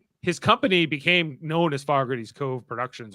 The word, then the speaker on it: Fogarty: his company became known as Fogarty's Cove Productions. Or Fogarty, it's pronounced Fogarty. Fogarty. Out in Ontario, we say Fogarty.